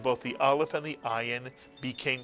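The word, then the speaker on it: עין: you right now it's the letter ion this is also a silent letter in Hebrew makes no sound at all you simply pronounce it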